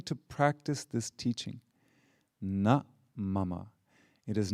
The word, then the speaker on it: mama: Mama. Mama, not mama like mother, mama. In Sanskrit it means mine.